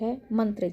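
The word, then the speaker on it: हं: इस चक्र को बैलेंस में लाने के लिए सबसे पहली बात है मंत्र जाप। इस चक्र का मंत्र है हम। इसको हम ह अ म इस तरह से उच्चारण करेंगे।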